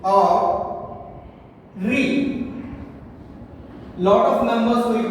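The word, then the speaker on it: ऋ: And now, how to pronounce this? Re means you do not have to pronounce this Aru. In Hindi it is restricted. You do not have to call this Aru. It is Re.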